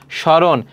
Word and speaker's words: স্মরণ: দেখো শব্দের প্রথম ব্যঞ্জনের ম ফলা সংযুক্ত হলে সাধারণত তার কোন উচ্চারণ হয় না। যেমন শ্মশান। তাহলে এখানে দেখো এইযে ম ফলা শুরুতে আছে। এজন্য এর উচ্চারণ হবে না। স্মরণ। দেখো ম ফলা শুরুতে আছে। এর উচ্চারণটা হবে না।